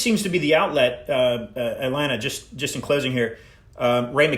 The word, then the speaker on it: Alena: It's Alena. Thank you. So I got her name wrong.